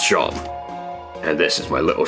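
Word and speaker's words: Seam: The name is Shom, pronounced Shom.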